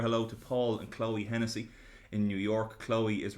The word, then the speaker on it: Hennessy: Hennessy is spelled like the state Tennessee, but with a H at the start instead.